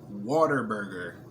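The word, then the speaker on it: Whataburger: okay they call it water burger but it's spelled like what a burger like what an amazing burger but they they call it water burger like even even in the commercial they like water burger i'm like how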